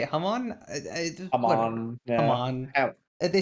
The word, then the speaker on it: Hamon: Hamon. Yeah. Hamon. They say Harmon.